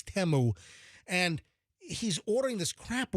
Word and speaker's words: Temu: like temu tmu and it's I believe it's pronounced temu it's not it's not teu it's temu and he's ordering this crap where there's like